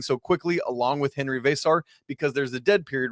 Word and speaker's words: Veesaar: how to do it there's a v an e an S an A and an R the vowels are doubled that's all you need to know and then you pronounce it V like VA y SAR s r so Henry vasar all right coach this